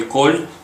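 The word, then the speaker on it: כל: є така оглосовка виключення вона виглядає як буква Т але читається як о наприклад в слові Коль і я вам зараз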